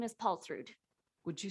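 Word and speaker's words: Paulsrud: last name i apologize my last name is paul through would you spell that please i sure will p-a-u-l-s-r-u-d thank you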